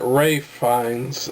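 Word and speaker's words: Ralph Fiennes: now let's talk about Ralph fines or at Ray finds as he likes to be called but I'm going to call him Ralph I'm sorry dude your name is spelled Ralph so I'm going to call you Ralph get over yourself he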